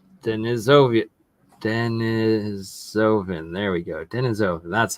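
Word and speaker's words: Denisovan: Neanderthal and then denov denisen there we go denisen that's how you say it and that looks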